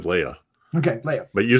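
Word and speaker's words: Laya: Hayes Leia Leah l-a-y-a yeah how do you pronounce that I just said Leia okay Leia but you said Layla oh did I throw an extra l in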